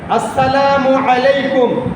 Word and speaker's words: আসসালামু আলাইকুম: বলবেন আসসালামু আলাইকুম বলবেন না আলাইকুম না আইনের উচ্চারণ ওয়ালাইকুম আসসালামু আলাইকুম বলেন সবাই আসসালামু আলাইকুম আল্লাহর রাসূল হযরত মুহাম্মদ